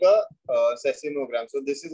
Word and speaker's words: seismogram: Sir, I know the tool, but I don't know the pronunciation of that. Okay. I'll say it. It's called as a seismogram.